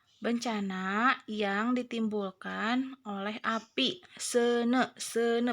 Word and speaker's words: seuneu: Seuneu bacanya tuh ya, kalau ada e sama u bacanya e.